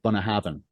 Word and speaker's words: Bunnahabhain: like there's one of my favorite whiskies in Scotland is an Islay single malt called Bunnahabhain.